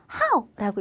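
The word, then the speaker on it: 好: 그런데 동사로 쓸 때는 사성으로 읽어서 how라고 읽으셔야 돼요.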